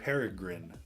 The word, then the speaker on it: Peregrine: way to say it Peregrine like a peregrine falcon from this point forward